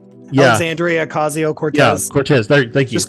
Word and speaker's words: Ocasio-Cortez: couple times where um uh I can't ever pronounce her name correctly the person from New York uh asio or Cortez yes Andrea ocasio-cortez Cortez thank you just call her AOC AOC